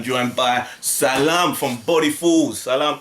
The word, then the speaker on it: Salim: Salam. I always say Salam. Why do you say Salim? Salim. Why do you say Salim? I heard someone say you pronounce it wrong.